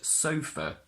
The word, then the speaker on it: sofa: spell it as s-o-f-e-r because the letter A gives the sound up the same sound that we get from ER at the end of a word now if the word